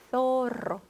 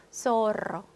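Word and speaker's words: zorro: 자, 그래서 스페인 사람들은 혀를 물고 영어의 TH 발음을 해주게 되기 때문에 스페인 스타일로 하면 소로, 소로. 스페인 스타일로 하면 페리스, 페리스. 자, 그런데 중남미 사람들은 혀를 물고 하는 발음을 하지 않고 그냥 S와 발음을 동일하게 한다. 자, 그래서 중남미 사람들이 발음하면 소로, 소로, 페리스, 펠리스. 요렇게 그대로 해준다는 거, 여러분이 스페인 쪽으로, 중남미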